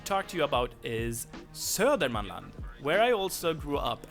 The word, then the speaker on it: Södermanland: Södermanland Södermanland also has an alternative pronunciation which is Sörmland and that's why Sörmland Yeah, that's the Sörmland. Mm. They skip a lot of letters.